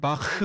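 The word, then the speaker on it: Bach: 알기로는 한국에서는 바하라고 표현을 하고 아마 원어 발음엔 바흐 뭐 이런 느낌이 되겠죠 아마.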